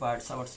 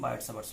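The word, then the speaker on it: Biot-Savart: এখানে আমরা শিখলাম বার্ড-সাভার্টস ল, বার্ড-সাভার্টস ল, বার্ড-সাভার্টস অনেক বলে, টি সাইলেন্ট বলে, সাভার্টস ল।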